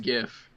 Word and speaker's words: GIF: just think if on the internet and it's gift kids I don't care what the guy says it says it's pronounced like Jeff it's gif it starts with